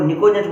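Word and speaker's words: pnictogen: arsenic anti नहीं त इनको निकोजन बोलते हैं पी साइलेंट है पी एन आई सीओ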